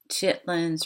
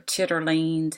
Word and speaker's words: chitterlings: when we talk about chitlins or chitterlings however you want to pronounce it pig feed the